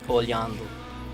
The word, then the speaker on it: olhando: Olhadu, or sorry, do, and olhar is the verb, and when you put an L and an H after it, it makes kind of like a Y sound.